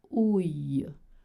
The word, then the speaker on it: ouille: Whenever you see a noun spelled with I-L-L-E, you don't make the sound I, you don't make the sound le, it's actually the sound you, like in you or yes.